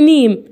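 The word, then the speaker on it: name: نيم. نيم ليه نطقتها نيم؟ ليه مديت كده زي الياء؟ عشان قال لك والله هنا في اخر الكلمه ايه.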